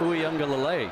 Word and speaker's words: Uiagalelei: Uiagalelei. I think it was that motion that got him. Oh, nice pronunciation there, too.